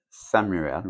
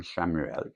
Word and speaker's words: Chamuel: L'archange Samuel ou Chamuel, comme vous désirez le prononcer, un événement important fait irruption dans votre vie, une puissante révélation qui mène au changement.